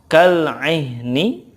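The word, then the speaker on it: كالعهن: Kemudian kal-ihni, ketika waqafnya kal-ihn. Kal-ihn. Ingat ya, karena ha ini ada rohwah dan juga hamznya, maka sifatnya diberikan dulu baru gitu. Kal-ihn.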